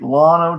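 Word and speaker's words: Llano: you i can't wait lono texas is spelled l-l-a-n-o have to look it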